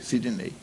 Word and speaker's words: Sidney: que lá no Ceará me chamam de Sidney até escrito o o a a sílaba forte é noi Sidnei você tem alma de